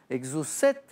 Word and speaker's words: exocet: alors pour le poisson on ne sait pas toujours la prononciation c'est plutôt exaucer exocet rend vos missiles qui